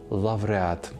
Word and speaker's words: лавреат: вам більше до вподоби лауреат або лавреат обидва варіанти правильні насамкінець лише додам Дбаємо